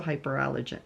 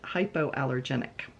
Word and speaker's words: hypoallergenic: light but extremely warm it's also hyper allergic hypoallergenic that I pronounce it hypoallergenic yeah hypoallergenic yeah so